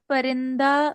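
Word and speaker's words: پرنده: जैसे आपने परिंदा वर्ड का बताया कि पर्शियन में परंदे प्रोनाउंसिएशन है, तो सर जैसे पिस्ते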